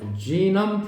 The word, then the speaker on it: genome: The Human Genome Project. 우리가 게놈 프로젝트라고 하는데 발음은 genome이야.